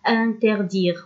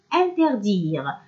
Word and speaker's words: interdire: Interdire s'écrit avec E à la fin, mais on ne le prononce pas. On ne dit pas interdire, on dit interdire.